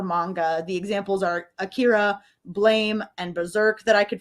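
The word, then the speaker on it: Blame!: the examples are Akira blame and berserk that I could find or if you're gonna use the Netflix adaptation pronunciation that middle one is Blum it's the way they yelled it every time Blum then you've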